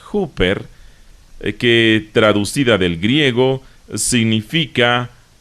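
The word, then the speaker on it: ὑπέρ: el Nuevo Testamento es una pequeña palabra griega que se pronuncia hooper que traducida del griego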